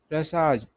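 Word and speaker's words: Russia: को मारना बंद करेंगे रसाज इसको लोग रशिया पढ़ता है रसा सही उच्चारण होता है लीडर मतलब रूस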